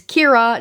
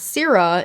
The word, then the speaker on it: Kira: which she pronounces wrong it's Kira not Sarah in the video and